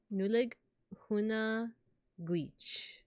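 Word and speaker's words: Nollaig Shona Duit: In Irish, you can say Nolag Shona Duit, pronounced Nuleg Huna Guich.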